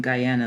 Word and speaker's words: Guyana: I'm sure it's so Guyana I mean Guyana let me not say it wrong not Ghana Guyana I've always wanted to